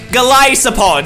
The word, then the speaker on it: Golisopod: Golisopod. Sorry, that's a correct pronunciation.